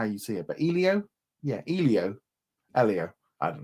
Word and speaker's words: Elio: Um, Mar says in the trailer for Io, the title's character is pronounced Elio. Oh, Elio.